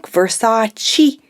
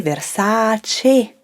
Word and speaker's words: Versace: carpet with her iconic versace dress nope sorry you have to say versace you have to say that last e in italian remember that you have